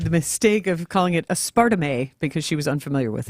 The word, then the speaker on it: aspartame: Aspartame. Aspartame. What was the wrong way to say it? A radio colleague of mine made the mistake of calling it aspartame because she was unfamiliar with it.